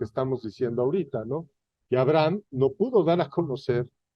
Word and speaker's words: Abraham: y no es una la H no es muda la H se pronuncia como jota Entonces dijo Dios así no se llamará más tu nombre Abraham ahí sí dijo Abraham